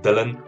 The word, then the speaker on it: Dylan: So I have a weird name, Dylan. It's pronounced Dylan. It's not South African or anything. It's just fucking Dylan.